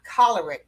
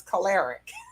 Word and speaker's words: choleric: And I was getting ready to when she explained the word is choleric from the root word cholera.